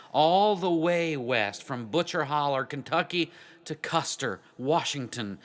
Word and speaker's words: Butcher Hollow: wife he was from butcher hollow Kentucky pronounced butcher holler he found a job